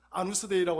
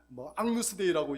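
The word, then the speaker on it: Agnus Dei: 아누스데이라고 하는 앙누스데이라고 이야기하기도 하고 아누스데이라고 이야기하기도 하는데, 이 아누스데이 혹은 앙누스데이라고 하는 이것은 라틴어 발음들이에요.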